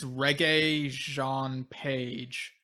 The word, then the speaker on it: Regé-Jean Page: Yeah, okay, I'm looking up the pronunciation of his name. Okay, it's Regé-Jean Page, or maybe it's Jean Page, but yeah.